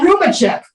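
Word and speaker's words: Roubíček: B check unless you're pronouncing it differently it's it's spelled r-o-u-b-i-c oh Ruben check yeah okay okay yes okay thank you sorry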